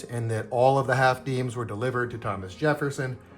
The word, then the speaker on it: half disme: cent pieces that had the word deem which looks like it's spelled dism and a lot of people call them half dism. But I again I'm told with authority that half deem is the correct pronunciation.